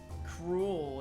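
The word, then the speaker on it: K. Rool: Cruel. He spelled it. He pronounced it right. K-R-O-O-L. Cruel.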